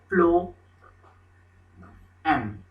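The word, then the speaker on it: phloem: the second one is it's flowing flow m this is what the pronunciation which we do okay the pronunciation is like this one so these are the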